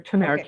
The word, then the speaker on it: turmeric: Talk to me about the properties of turmeric, or did I pronounce that right? Turmeric? Yeah, that's turmeric.